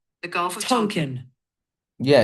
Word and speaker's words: Tonkin: Middle school history teacher Jordan McOaks uses the Gulf of Tonkin. The Gulf of Tonkin.